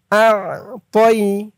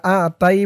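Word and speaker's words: أَعْطَيْنَا: তয়া জবর তই, তই, আ তই। অনেকে বলে ইন্না আ তাই বলে, আ তাই বললে কিন্তু এই তর উচ্চারণটা হয় না, বলতে হবে তই, আ তই।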